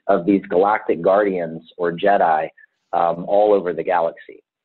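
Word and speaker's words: Djed: it comes from the root word jed and jed is spelled d-j-e-d and the jed represents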